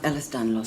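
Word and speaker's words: Ehlers-Danlos: You have Ellis Danlos syndrome, a genetic disorder. They pronounced it right.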